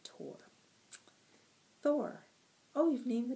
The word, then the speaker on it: Thor: She pronounced it Tor.